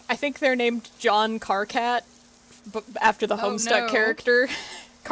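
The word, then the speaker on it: Karkat: Uh I always think about the I think I think they're named John Carcat after the Homestuck character Carat. So, it's spelled like Kit Kat, but it's Car Cat.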